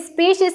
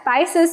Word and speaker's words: species: Now let us not confuse between the species and the spices. Okay, I know everyone will have the pronunciation difficulty and they will say species as spices, spices.